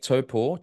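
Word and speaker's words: Taupo: Zealand is happening in Topo Lake topor Tapo Topo is the actual correct way to pronounce it uh this was the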